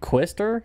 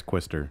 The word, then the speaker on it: Quister: I'm pretty sure it's Quister. Because Matt likes to put words that I can't pronounce on here. No, that's literally the band name. I know, Quister.